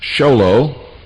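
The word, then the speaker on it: Show Low: Make checks or money orders out to Annie, A-N-N-I-E, and send them to the Intelligence Service, Post Office Box 1420, Sholo, that's spelled S-H-O-W-L-O-W, Arizona, 85901.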